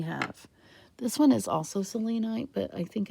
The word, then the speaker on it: selenite: and yes i say selenite because it reminds me of the greek goddess of the moon cellini and in greek